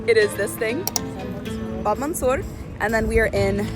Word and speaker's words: Bab Mansour: It is this thing, Bab Mansour.